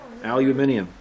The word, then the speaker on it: aluminium: i get can you will or as the british say how do they say it yeah yep oh yeah aluminium yeah so i'm going to try to weld